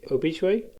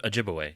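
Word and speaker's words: Ojibwe: Um I'm going to mispronounce the name of the of the people. The Oichuay. Uh Ojiway.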